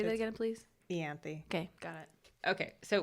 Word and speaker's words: Ianthe: Okay, so we are introduced to Ianthe, high Is priest. that how you say her name? It's Ianthe.